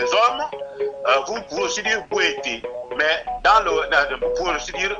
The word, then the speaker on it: Bwete: C'est-à-dire que vous avez le Bwekaye que l'on prononce dans le corps de garde lorsque vous trouvez des initiés au rite Bwete et non Bwiti, parce que les Simba ne connaissent pas le Bwiti, ils connaissent le Bwete qui dérive du verbe Mobwetaro.